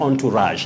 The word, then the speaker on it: entourage: the president and his entourage that is a group of people who travel with an important person like the president the pronunciation is entourage entourage and i think just